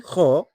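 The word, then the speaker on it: خاء: While Kha is the seventh letter and has one dot above. Its sound comes from the upper part of the throat and has a stronger quality than Ha.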